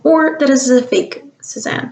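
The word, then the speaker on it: Cézanne: that is a fake suzanne let's see if we can look that up sazon i think is more accurate pronunciation but suppose that in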